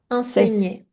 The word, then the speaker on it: enseigner: Très très un mot difficile pour prononcer en ig. Enseigner. Oui. Oui, tout à fait. Mais tu l'as bien prononcé. C'était plus attention à ne